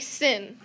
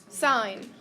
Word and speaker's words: sine: familiar on your calculator sine will look like sin we are highly educated individuals are we not so we are not going to say sin we are going to say sine okay still one syllable